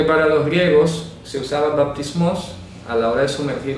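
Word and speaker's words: βαπτισμός: La palabra bautismo viene del griego baptismos. Baptismos. Entonces se pronuncia con P. Bap.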